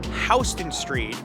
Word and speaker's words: Houston Street: It's pronounced Houston Street, named after William Houston, who was a delegate from the state of Georgia to the Continental Congress.